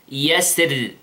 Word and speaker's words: يسر: There is another way to pronounce ara here in this word, which is to pronounce the ra light, light. How? Like this. Yasir.